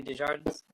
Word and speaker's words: Desjardins: Desjardins. Johnny Desjardins. Yeah, exactly. That's what it sounds like.